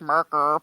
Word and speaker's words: Maekar: I think the guy who announced the Herald sounded like he said it different, more like Merker, but then Baelor.